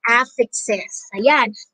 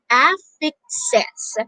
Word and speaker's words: affixes: in english is through affixes let's say it together you can practice we can practice pronouncing the word affixes it's not affixes but it's affixed sets all right it's affixes